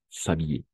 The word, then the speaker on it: s'habiller: Mais commence par un H muet, una H muda. H muet, on va faire la même chose. S'habiller. Entonces, como uno solo.